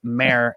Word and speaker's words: Mare: it was mayor but here's just m-a-r-e so i want to just clear that up for everyone it's mayor mary of east town